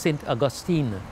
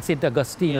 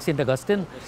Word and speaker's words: St. Augustine: We went through where our minister right now is in, it's pronounced St. Augustine. Not like he's in St. Augustine, like St. Augustine.